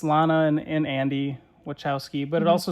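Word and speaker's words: Wachowski: you say their name I thought it was wowski but I guess I'm wrong no you're right it's wowski siblings wowski siblings butow yeah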